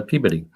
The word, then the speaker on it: Peabody: you lived in uh would be spelled Peabody peab yeah and uh around there it's a peid peid yeah and I lived